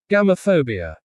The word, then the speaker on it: Gamophobia: The word is pronounced as gamo fabia. Repeat after me slowly. Gam fabia. Now faster. Gamophobia.